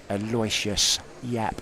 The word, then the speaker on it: Aloysius Yap: Don't forget, coming up very, very soon, 1:30, we will have for you the US Open runner-up, Aloysius Yap.